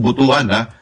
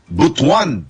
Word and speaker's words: Butuan: Ganun ang pagpapronounce ng Butuan. Hindi po Butuan, Butuan. Ganun. Medyo slang konti.